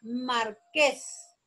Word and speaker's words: marqués: La palabra marqués. Marqués. La sílaba tónica es ques.